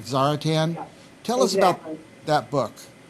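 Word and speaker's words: Czaritan: of going back and forth how you even pronounce it but it's CZ a r i t a n yep I call that zaratan okay and that's the old word for the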